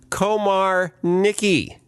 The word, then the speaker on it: Komarnicki: special guest is Todd Komar Nicki perfect that pronounce this word Nicki he said pronounce it like there's a hyphen in the middle which there isn't but unpretending don't